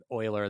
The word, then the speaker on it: Euler: it should be pronounced Euler beats but according to Wikipedia it's like Euler the mathematician and that's like how